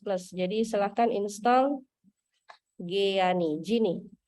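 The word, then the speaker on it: Geany: Jadi silahkan install Giani, Gini. Dibacanya Gini. Giani. Nah, yang punya MacBook ya, Gini. Silakan install Gini. Tulisannya Giani. Yang Windows Dev C++.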